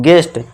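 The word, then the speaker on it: guest: इस तरह से गेस्ट नहीं, गेस्ट। यहाँ पे क्या देखिए दोस्तों, हम इस यू को साइलेंट कर देंगे। क्यों, क्योंकि यू के बाद क्या है, कि वाउल है, ई है, तो हम कैसे बनाएंगे,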